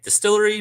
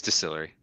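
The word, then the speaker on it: DSTLRY: announced his new book through, and I'm just going to say distillery, but it's like DSTLR, whatever. It's just it's distillery. Okay. That's how they pronounce it.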